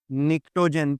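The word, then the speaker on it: pnictogen: यह जो है बेसिकली निक्टोजन पी बेटे यहां पर साइलेंट है।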